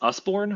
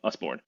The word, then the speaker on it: Usborne: I think it's Usborne. I'm not sure how to pronounce it, but looks like U.S. born with an E at the end. Usborne.